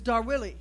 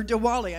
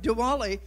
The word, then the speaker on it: Diwali: It's Darwili. It's a, or Diwali, I'm sorry, at least I can do is say it right. Diwali, which is a huge Indian celebration, so come and be part of that festivity.